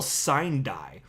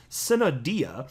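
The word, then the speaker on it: sine die: that spell s-i-n-e-space d-i-e so i was like what the hell sign die and so then i looked it up and uh you know google can pronounce stuff for you so anyway i found it it's pronounced cinnadia i should just come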